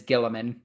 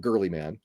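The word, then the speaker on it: Guilliman: They have an official book now, and it is Gilliman. He's wrong. It's Gilliman. I'm joking. I mean, it's Gilliman, Guliman. It's definitely not Girly Man.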